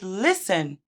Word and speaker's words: listen: For example, the first word listen, there is a silent T.